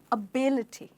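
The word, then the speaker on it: ability: बड़ा pronunciation mistake है हम इसको कहेंगे एबिलिटी एबिलिटी तो आपने नोटिस किया होगा हमारा जो स्ट्रेस है वो आई पे चला गया है जो कि ऐड हुआ है स्पेलिंग में आईटी वाई लगने के बाद तो बोलिए मेरे साथ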